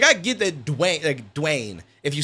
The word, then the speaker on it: Duane: Like, I get that Duane. If you say it quick, it sounds like D-Wayne. But I tell them, Duane. Duane.